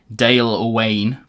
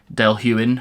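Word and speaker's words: Dailuaine: D yuin I'm always I always have to pause before I say that word because it that is not how it's spelled Dale Wayne Dale huin uh 10 years 55%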